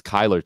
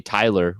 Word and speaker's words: Kyler: I mean my name's Kyler too and everyone thinks I say Tyler when I first say my name it's like oh Tyler it's like no I the only person